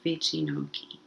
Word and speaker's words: wycinanki: about polish art called richinoki and this is how it's written and i put the phonetic pronunciation underneath hopefully it's something close to this vicinoki and this art form